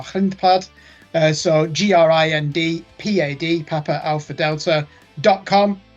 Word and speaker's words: Grindpad: I will spell that, or as an English person might pronounce it, Grindpad, which means gravel pad in Dutch, or grindpad.